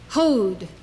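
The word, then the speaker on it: הוד: Hod, majesty.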